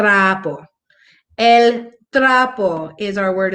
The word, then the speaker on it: trapo: Just like trapo, but you're going to, of course, you're going to roll your R. You're going to trapo.